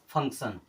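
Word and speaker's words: function: तो हमेशा होगा कि अगर टी के बाद में आई ओ एन आ रहा है तो हर जगह पर आपको सन की तरह ही उच्चारण करना है अब एक वर्ड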